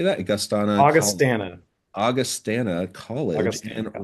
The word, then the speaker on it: Augustana: Augustana.